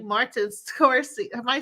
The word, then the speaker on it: Scorsese: My life is like a movie, and I feel like Martin Scorsese. Am I saying it right? Help me out. Yeah. Scorsese.